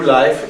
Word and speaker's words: Leif: 2 months ago we introduced the new Life into level series. Да, мы представляем новую линейку Life. Это вот читается не Leif, а Life, потому что это имя человека.